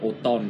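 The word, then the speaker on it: automne: Đấy là Autumn, đấy là O-N-N-E, sẽ không phải nhé, mà là O-M-N-E, nhưng lại đọc là Autumn.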